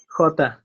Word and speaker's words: jota: It's like a cat hissing. Jota.